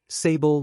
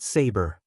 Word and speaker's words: Sable: It was none other than Silver Sable, who had been hired by the mayor, Norman Osborn. "Hey, Sable, long time no see," Miles greeted cheerfully. "My name is Sable, not Saber," she replied, slightly irritated by his mispronunciation.